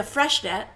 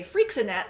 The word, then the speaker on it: Freixenet: I am drinking the Freshnet. I only recently learned how to pronounce that. I used to say Freixenet, like it was some sort of hairspray. Yeah.